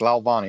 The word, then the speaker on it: Lalvani: forgot to ask you you pronounced it correctly perfect lalvani okay well rocky is